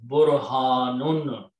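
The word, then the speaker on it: برهان: All you have to add in alif in the between these two, and pronounce as Burhanun.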